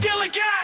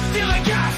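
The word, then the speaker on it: DILLIGAF: A word, Dilligat, that's spelled D-I-L-L-I-G-A-F, Dilligat.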